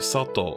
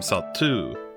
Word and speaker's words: Satou: Arisa pronounces his name Sato correctly. Sato-sama? 今 Up until now, Sato and the native population have been pronouncing his name Satu.